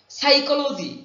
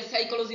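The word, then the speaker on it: psychology: গুফ বলি মাস্টেজ গুফ সাইকোলজি এখানে পি এর উচ্চারণ হবে না আমরা এইভাবে বলতে পারি পিসি চলো যাই পি এস ওয়াই পিসি সি এইচ ও চ এল ও চলো যাই পিসি চলো যাই সাইকোলজি মনোবিজ্ঞান ম্যাগনানিমাস উদার বা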